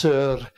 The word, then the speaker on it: Szor: Yes, Sir, where you roll the R very slightly.